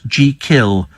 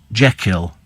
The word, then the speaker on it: Jekyll: He said that let the name be pronounced as thought it's spelt, G-Kill, not Jekyll. I've always said G-Kill.